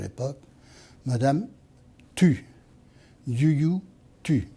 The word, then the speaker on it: Youyou Tu: Yu Tu. Alors, il faudrait prononcer un peu mieux à la chinoise, c'est Yu Tu.